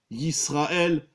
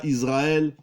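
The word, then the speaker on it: ישראל: Shema Yisraël, c'est pas Shema Israël.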